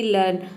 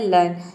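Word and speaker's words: learn: के एग्जांपल जैसे कि लर्न लर्न में देखिए हम ई ए को अ प्रोनाउंस करते हैं तभी इसका प्रोनाउंस होता है लर्न लर्न मतलब होता है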